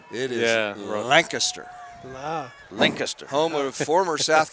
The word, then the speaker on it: Lancaster: No, it's spelled correctly. It is Lancaster.